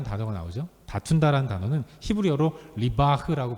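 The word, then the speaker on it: ריב: 다툰다라는 단어는 히브리어로 리바흐라고 발음을 합니다.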